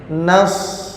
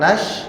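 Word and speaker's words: نصر: lanjut terus yang masih kurang pas adalah makhraj Nas ya Nasrullah ya anasrullah bukan Nash bukan Nash Nas ya short short ya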